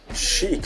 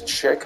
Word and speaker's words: chic: Seth on the band chic secret cmars looks like that word is Chick but it's actually pronounced Chic that was a widely